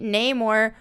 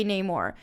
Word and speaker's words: Namor: is from him but there is certainly a way that a Spanish speaker or even a Mayan speaker would say Neymar versus a way that an English speaker or someone somebody who's a little bit more Western in slant might say anymore and we thought that